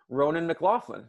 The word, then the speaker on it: Ronan McLaughlin: right so welcome to uh to my channel ronan mclaughlin that's that's your correct pronunciation right uh yes as uh as close